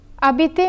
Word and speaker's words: habiter: The H is silent because it is a mute H. Since such an H is similar to a vowel, an elision is required. So we say j'habite instead of je habite.